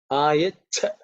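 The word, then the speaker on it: आयच्छ: So the Cha has to be aspirated with extra air.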